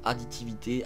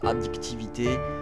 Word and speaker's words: addictivité: Je sais pas exactement comment le mot se prononce additivité. Addictivité.